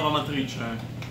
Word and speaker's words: Amatrice: And it comes from this little town of Amatrice. Oh. Amatrice. Amatrice.